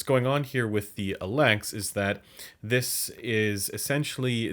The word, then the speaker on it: Elex: look at the focal alex that's right alex nobody has ever said this any other way there's only one way to pronounce this and every other pronunciation is incorrect we're gonna take a